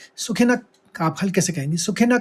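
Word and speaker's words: सुखिनः: न लिखा हुआ है विसर्ग है लेकिन आप उच्चारित करेंगे क्योंकि यहां पर कोई नियम आपको पता है यह विसर्ग का नियम है श है तो क का आघात लेंगे सुखिनक आप हल कैसे कहेंगे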